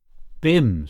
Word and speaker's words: Bim: and Manning cross eyebrows Rose your beam is that how you pronounce it Bim said the other b-i-m Christian name Cherry Cherry